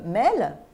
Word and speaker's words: mail: la population française enfin le terme mail et myëlle qui est la 2e syllables de l'expression anglaise prononcé à la française a fini par se